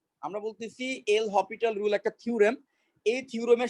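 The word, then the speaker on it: L'Hôpital: ওকে, এটাকে অনেকে এল হসপিটাল বলে, বা আসলে এটা উচ্চারণ হবে এল হপিটাল।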